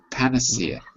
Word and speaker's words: panacea: but it's panace p pania how do you pronounce pania pania Panacea and I'll just I'll double check that I'm